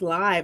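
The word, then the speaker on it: Liev: No, it's pronounced live.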